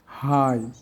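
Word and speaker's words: high: না ইংলিশ ওয়ার্ডে আই এর পর জিএইচ এর উচ্চারণ হয় না। যেমন হাই থাই সাই দো প্লাও নে বাও এবার আমরা অর্থগুলো দেখি।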